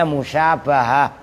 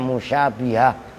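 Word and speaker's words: مشابهة: Nun membuang Nun alasannyailti Nah itu membacanya musyabahah kalau kalian yang pada baru-baru belajar kadang-kadang bacanya musyabihah itu masdar syabaha yusyabihu musyabahatan fa'ala yufailu mufaalatan kan mufa'alah jadi musyabahah bukan musyabihah masdar libadil musyabahati karena jauhnya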